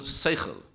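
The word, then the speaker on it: שכל: We have a word for that in Hebrew, which is pronounced in a non-Hebrew way, and it's called seichel.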